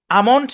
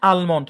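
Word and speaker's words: almond: এই শব্দটা খেয়াল করেন। এখানে এলটাকে সাইলেন্ট রেখে উচ্চারণ করা যায়। আবার উচ্চারণও করা যায়। আমন্ট আলমন্ট দুটাই সঠিক আপনার যেটা ভালো লাগে উচ্চারণ করেন সমস্যা নাই সাইলেন্ট এলে ধরাবাদে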